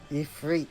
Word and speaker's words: Ifrit: Ifrit is how they say it.